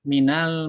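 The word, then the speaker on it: مِنَ: Ya, untuk min ini dibacanya dengan fathah. Minal masjidi.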